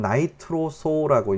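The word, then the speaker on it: nitroso: NO, 이건 나이트로소라고 읽어주시면 돼요. 이거는 NO2가 나이트로고요. 이건 나이트로소예요.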